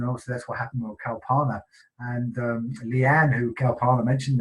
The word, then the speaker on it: Kalpana: Or should I say, I'm pronouncing her name wrong, and it's Kalpana, and I do apologise, and it's because us English, we read it we do differently. We read it how we in English, but it's not the same.